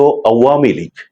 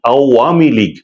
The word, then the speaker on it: আওয়ামী লীগ: আরেকটি হচ্ছে নিষিদ্ধ আওয়ামীলীগ। এখনো পর্যন্ত এই প্রাচীন দলটির উচ্চারণ নামের উচ্চারণ অনেকেই ভুল করে থাকেন। তারা বলেন আওয়ামী লীগ। এর মধ্যে যে একটি আওয়ামী লীগ আছে আওয়াম।